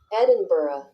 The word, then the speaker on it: Edinburgh: Maybe I'm pronouncing this correctly. Edinburgh.